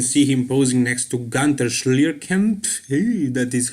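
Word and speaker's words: Günter Schlierkamp: Here you can see him posing next to Gunter Schlierkamp. Hey, that is how you pronounce his German name.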